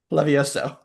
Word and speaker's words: Leviosa: Levioso.